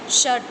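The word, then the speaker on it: षट्: षट, क्योंकि ट हलंत है, हलंत का अर्थ होता है हाफ है, तो षट नहीं बोलना है, षट, ठीक है।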